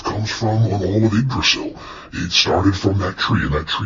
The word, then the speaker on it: Yggdrasil: Well, if you saw it written down, you probably would say it wrong. I know I did the first time that I saw it, but Yggdrasil is a gigantic heavenly tree.